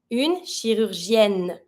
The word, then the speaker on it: chirurgienne: Last one, un chirurgien, une chirurgienne. Every time you have en or ien when it's masculine, you're going to double your N and then add your feminine E.